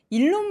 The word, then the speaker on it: 일론: 바라보겠습니다 자이어서 테슬라 이야기입니다 일론 머스크의 리스크는 지속된다 이게 이제 일론 있데 이론이라고 일부러 하신 거죠 이론 이거죠 어디이 업 매체마다 발음이 다 틀립니다 일론 어 이론 이론 머스크 예 이론에